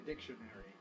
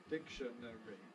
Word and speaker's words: dictionary: a weak suffix i the question is where do you compress if you do compress if everything is present we have four syllables dictionary dictionary but you could compress between the last two syllables giving you dictionary dictionary dictionary dictionary dictionary or you could compress between the second and third syllables giving dictionary dictionary dictionary dictionary and those are both possibilities when you have this